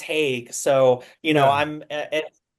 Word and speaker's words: Heague: Heague, last name is pronounced Hague, so you know Yeah.